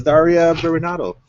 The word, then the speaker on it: Daria Berenato: Wait, no, it's Daria Berenato.